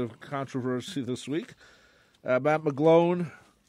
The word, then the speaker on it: McGloin: controversy this week about McGlone McGloin McGloin I was thinking the reactor rhymes with mcgroin the thing of the